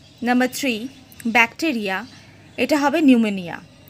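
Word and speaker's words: pneumonia: Number three, bacteria এটা হবে নিউমোনিয়া। এখানে যে নিউমোনিয়ার আগে যে পি আছে, এটা কিন্তু উচ্চারণের সময় অফ থাকে, সাইলেন্ট লেটার, এটা নিউমোনিয়া।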